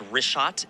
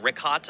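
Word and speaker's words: Richat: first couple I just want to say it's rot I used to call it rick hot I was mispronouncing it but let me ask you this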